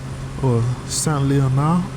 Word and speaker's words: Saint-Leonard: Saint-Leonard, that's how it should be pronounced, is a charming community and is particularly picturesque during the warm days of late summer.